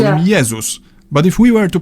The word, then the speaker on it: Jezus: In Polish we call him Jezus, but if we were to pronounce his name the English way, we'd write it down as Jesus.